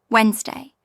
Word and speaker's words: Wednesday: Word four, Wednesday, British Wednesday, silent d and neess.